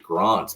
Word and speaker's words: Grant: you say that because my name is spelled Grant but we pronounce it Grant because I was born in South Africa when I moved here